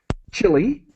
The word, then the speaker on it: Chile: So this hour, I am going to be talking about Chile, is the pronunciation that we use in English, Chile, because we're talking about solar energy.